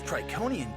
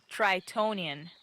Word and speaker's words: Tritonian: This Triconian jungle is hot! Tritonian. What? It's pronounced Tritonian. That's what I said. Triconian. Tritonian! With a T in the middle.